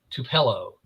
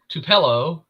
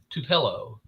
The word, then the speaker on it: Tupelo: says over here in Tupelo and I'm like everybody knows Tupelo that's where the king is from everybody knows Tupelo Mississippi but he said to pillow I'm like no yeah nobody can pronounce